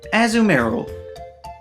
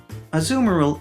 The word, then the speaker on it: Azumarill: Azumarill is just Marill's name with the word azul slapped in front of it, which is Spanish for blue.